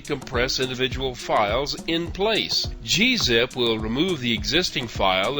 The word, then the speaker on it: gzip: zip and g unzip sometimes it's hard to know how to pronounce these things i've also heard them call gazip and gunzip and that's more like the gnu tradition of pronouncing things i'm just going to call them g-zip and g-unzip and let you sort it out these utilities work more